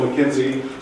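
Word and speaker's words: McKinsey: Amy Vickers from digital McKenzie sometimes pronounce Mackenzie digit if you would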